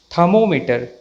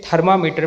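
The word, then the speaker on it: thermometer: सही pronunciation perfect है थर्मामीटर थर्मामीटर इसका सही प्रनंसीएशन है इसे थर्मामीटर बोलना गलत है इसका सही प्रनंसीएशन थर्मो मीटर है अलार्म नॉट अलार्म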